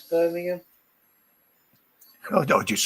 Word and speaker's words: Birmingham: And I hate people that can't pronounce Birmingham. Oh, I just say Broom. It's easier. You can't go wrong with that one. Birmingham. Birmingham. Birmingham. Birmingham's all right. Birmingham. But burning ham.